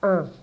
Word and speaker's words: un: So une table. Une table. Une table. Okay? So une is feminine, it means a or un, and the masculine form is un, like number one. Un.